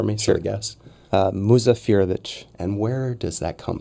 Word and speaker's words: Muzafirović: Will you do me a favor and pronounce it for me? Sure. So I guess. Muzafirović.